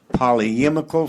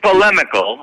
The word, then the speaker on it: polemical: A polyemical film? How do you pronounce it? Where it's an opinion type film. Are you familiar with it? Sure. Did you write the it? word is polemical, and Okay.